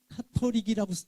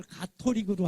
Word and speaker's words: 가톨릭: 그저 지나가는 재밌는 얘기로 원래 카톨릭이라고 읽어야 맞거든요. CA니까. 근데 그걸 가톨릭으로 하는 게 기억린군 순서로 한국 종교 순위 매길 때 제일 앞에 가기 위해서 가르다 해서 그 표준어가 됐다고 그러더라고요.